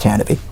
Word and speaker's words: Tantive: And yes, it's pronounced Tantive. Tantive.